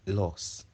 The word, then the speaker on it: loss: between loose loose and loss kindly take note of the pronunciations l o s e is pronounced lose l o o s